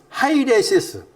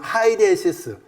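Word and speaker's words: αἵρεσις: 그러니까 헬라어의 발음은 하이레시스. 헬라어의 발음은 하이레시스.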